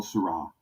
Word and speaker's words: Sarah: the castry um under Cardinal Syrah um or Cardinal Sarah people pronounce it both ways um and uh he